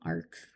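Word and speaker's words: ARC: That's funny, because, Ark. It's Ark from the Bible, but spelled with a C instead of a K.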